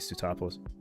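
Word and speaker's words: Sootopolis: I always had a trouble pronouncing that. Yeah, it was definitely Stuttopolis.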